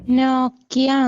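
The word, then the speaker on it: Nike: നൈക്കി എന്നാണ് അതിന്റെ pronunciation. NIK.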